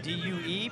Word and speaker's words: Due: Spelled D-U-E, pronounced Due.